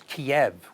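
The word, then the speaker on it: Kyiv: reason for that um the way we learned it in years past which was kiev with a short e sound at the end is actually the way you say it in russian saint kiev with a long e sound at the end is how you say it ukrainian no that's it all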